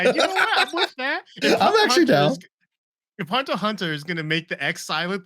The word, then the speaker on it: Hunter x Hunter: x Hunter fighting game I don't think you pronounced the X Ricky like is a hunter cross Hunter No it's h it's just silent yeah no no pron